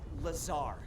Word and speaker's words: Lazar: and its sales liaison it's lazar actually accent on the tsar but yes i'm your